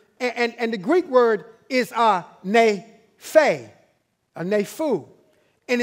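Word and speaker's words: νήφω: This is a Greek word, and the Greek word is nepho, and it's spelled N-E-P-H-O.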